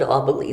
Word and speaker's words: Aubele: the door and call they couldn't ever say my name right so they never said auba lee they called me mrs aubs and they'd say mrs